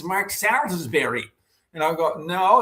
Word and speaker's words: Salisbury: go, oh, it's Mark Salisbury. And I'll go, no, if you were in London, it would be Salisbury, right?